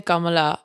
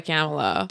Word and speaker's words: Kamala: camelot will cringe and i want to say kamala but that's not how she pronounces her name she goes by kamela do it the way